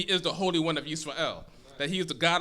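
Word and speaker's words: ישראל: And as Jehovah God has called that nation, called the children of Yisrael, Jacob, who's the grandson of Abraham, whose name was changed to Israel, or Yisrael as it's pronounced in Hebrew, that is the nation that Jehovah God focuses His attention on.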